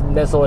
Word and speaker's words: Nizzle: of it is actually Nizzle. I'll put a pronunciation down there, wherever, down below, whatever. But if you want a reference, just think whistle.